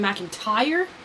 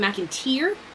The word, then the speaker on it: McIntyre: such as knowing that it's Adam McIntyre not Adam mcinteer well like it's very